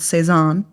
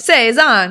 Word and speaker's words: Saison: the pronunciation do you do you look up the pronun yeah like seison like seison seison like yeah so that's what seison I'm pretty sure I have no French